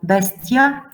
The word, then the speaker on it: bestia: But here we have S before T, so bestia, mixtio. So if there is S, T, or X before T, then it sounds normally like T.